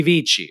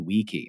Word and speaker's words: vici: is it veni vidi vici or is it veni vidi wiki? I mean, come on, like that is the classical pronunciation, and that's fine if you practice.